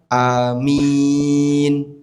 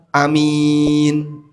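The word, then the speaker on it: آمين: Ada dua cara baca amin yang benar ya. Bisa A-nya panjang, bisa A-nya pendek. Boleh dibaca amin. Boleh dibaca amin. Dua-duanya boleh. Jadi minnya yang panjang min. Tapi mim jangan ada tasdid.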